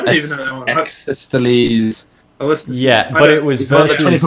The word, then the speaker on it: Ecclesiastes: Exesteles.